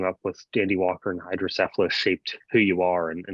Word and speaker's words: hydrocephalus: hand and I was I said actually it's pronounced hydrocephalus and I have it and he just was